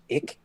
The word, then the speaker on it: ich: So, ic sometimes pronounced just ick is uh is a protozoan.